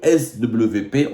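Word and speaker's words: SWP: et de sécurité le S WP en allemand le W se prononce V le svp le institut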